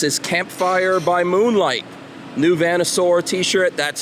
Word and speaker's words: Vanasaur: is out this is campfire by moonlight new vanasaur t-shirt that's how you pronounce that if you're a fan of class